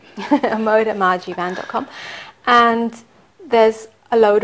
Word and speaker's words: Amoda Maa Jeevan: and yes you can go to my website a modem van calm okay can you spell that yes a.m.